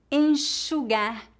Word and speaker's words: enxugar: Por exemplo, xícara, shampoo, caixa, peixe, enxaguar, enxugar. Normalmente, o X é pronunciado como Z quando colocado entre a vogal e outra vogal em início de palavras.